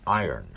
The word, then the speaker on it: iron: You don't pronounce it iron. That's what everybody tells me. It's the iron horse, like Lou Gehrig was the iron horse of baseball. Yes. The word I-R-O-N is iron. No, iron. Cast iron.